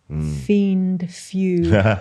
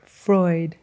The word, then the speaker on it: Freud: Fiend few. Mostly fraud. So, so how do you say it? Freud. Freud. Cuz in a German Austrian name and EU is oi.